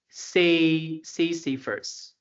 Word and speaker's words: Sisyphus: His name is Sisyphus. This is the pronunciation.